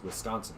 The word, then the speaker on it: Wisconsin: very strong Midwestern accent I pronounce it Wisconsin and everyone else is with Ganson which is just no it's Wisconsin get it right get it right you